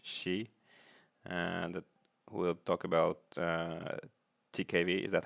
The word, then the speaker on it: TiKV: Today, we are very happy to welcome Wish Shi, and we'll talk about TiKV. Is that how you pronounce it? TiKV.